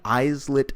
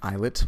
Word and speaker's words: islet: that there are many isolate cells it's actually pronounced eyelet but i'm mispronouncing it